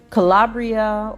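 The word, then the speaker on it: Kalabrya: of a Florida Highway Calabria or I I may be pronouncing her name wrong as k-a-l-a-b-r-y-a Haskins attorney Rick Elsie released a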